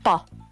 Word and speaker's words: pog: So in Hmong it's Pa. The G is silent.